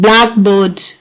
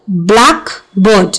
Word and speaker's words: blackbird: We can show the stress pattern of some of the pairs like blackbird. So, blackbird, if it's a phrase, so blackbird, and if it's a one word compound, so blackbird. White house, if it's a compound, whereas white house, if it's a compound word. So putting the stress on the first element only is an indication of